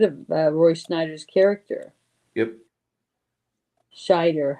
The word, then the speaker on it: Scheider: Yeah, okay, because I keep mispronouncing it, putting an N in it when I know there's not an N in there in his name.